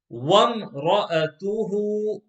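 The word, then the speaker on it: وامرأته: Wamra'atuhu, wamra'atuhu. In box number 12, after the first letter fa, there's an alif, and that alif is not read.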